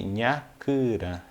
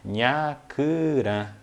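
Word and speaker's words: nhakurã: Então, cigarra, nós chamamos no Guarani de nhacurã. É bem difícil de pronunciar, mas vocês podem pegar a pronúncia.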